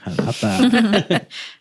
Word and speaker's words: Jalapa: Jalapa. Not all those other.